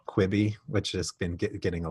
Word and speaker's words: Quibi: as quickly as possible, there's this ambiguous pronunciation here. Is it Quibi? Or like, I think like a Francophone would probably think Kibi, like with that pronouncing the Q-U-I-B-I in a different sort of way. So the Chinese might go Chibi or Chuibi.